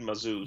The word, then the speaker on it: Mazouz: David Mazouz.